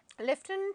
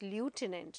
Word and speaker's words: lieutenant: Please do not pronounce this as lieutenant. No, lieutenant. We have the sound of F, although the letter is missing in English.